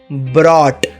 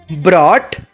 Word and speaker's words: brought: Past tense में इसका spelling होता है ब्रॉट, BROUGHT, ब्रॉट। Future tense बहुत आसान, विल